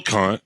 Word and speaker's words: Kant: should put a um that's k-a-n-t hopefully we're pronouncing that right yeah um so you're a little con I can see that's one of the lower